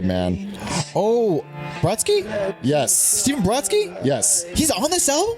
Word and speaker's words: Brodsky: Stephen Brodsky?